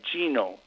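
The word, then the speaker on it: Gnomon: I went to Genome, which is it's spelled G-N-O-M as in Mary O-N, Genome.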